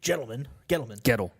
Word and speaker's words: Gettleman: Speaking Wednesday, Giants GM Dave Gettleman. It's a hard G.